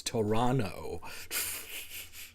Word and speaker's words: Toronto: Oh, you don't pronounce the second T. is Toronto. You silly conucks. You take the tea out of Toronto, but you in color and flavor.